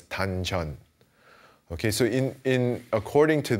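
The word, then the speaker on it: 단전: Now, in Chinese, this is called dan tian, and in the Korean pronunciation, that's dan chan.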